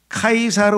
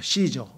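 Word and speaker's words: Caesar: 라틴어 소의 말하면 그 로마의 언어였던 라틴어는 영어의 시자 철자 시자를 km 발음합니다 km 반면에 영어는 S 식으로 발음을 하잖아요 그렇죠 그러니까 똑같은 로마의 황제를 뭐라고 하느냐 그러면 영어로는 저라 그래요 시저 그렇죠 시저가 로마의 황제의 타이틀이야 그런데 영어로는로 돼서 저인데 로마자로 라틴어로 하게 되면 이게 카이사가 돼요 카이사 그래서 카이사 여기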